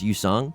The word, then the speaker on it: Yusong: feel so guilty because my name kind of sounds Korean, like it's Yusong, but it's spelled like Y-U instead of Y-O-O.